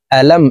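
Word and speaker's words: أَلَمْ: জবর লাম মিম জবর আলাম এখানে আলিফ আছে আলিফকে হামজা বলে উচ্চারণ করতে হবে কারণ হরকত থাকলে এই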